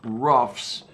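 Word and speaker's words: Roughs: Okay, Fort Ruffs, the way it sounds, as in not smooth, just Ruffs. Okay. Yeah, that's not coming up as a thing in Google Maps. That's annoying. Fort Ruffs.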